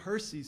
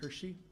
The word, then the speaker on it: Hersey: Mount Hersey's still there, and it's pronounced Hersey, not Hershey.